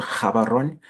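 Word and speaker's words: Gaborone: the capital city of bwana Ison so they pronounce it G is like a so it's called karon and this picture is not a picture of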